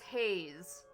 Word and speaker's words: Hayes: Uh the surname is pronounced with a long a sound like the word hey followed by the z sound at the end.